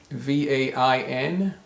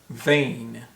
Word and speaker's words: vain: example these three words v-a-i-n v-e-i-n and v-a-n-e how are these three words pronounced actually they're all pronounced vain vain but they're spelled totally differently from each other but they're vain the